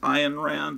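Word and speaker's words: Ayn Rand: a follower of and iron rand supposed to be pronounced iron rand i believe but anyways he's really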